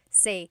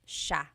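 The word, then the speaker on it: siya: The s i y combination makes the sh sound in tagalog. Some regions say sa but in the luzon central luzon area in that the gallog region it's sha sha.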